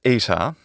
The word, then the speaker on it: eta: of the letter because that's how it has to be pronounced in english it's called phonotactics look it up so